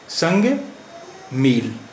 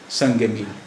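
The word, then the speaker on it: संग-ए-मील: आखिरी अक्षर है गाफ, तो गाफ के नीचे हमने एक जेर लगा दिया, तो अब इसका संग का तलफ्फुज़ हो गया, संग का प्रोनंसिएशन हो गया, या संग का उच्चारण हो गया, संगे संगे संगे संगे मील। हिंदी में हम आमतौर पे इस तरह लिखते हैं, संग डैश ए डैश मील, संगे मील, यानी मील का पत्थर।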